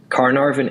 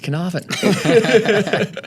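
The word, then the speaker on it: Carnarvon: from is actually monetizable caravin energy CVN can you're saying it wrong it's canavan mate I've been I've been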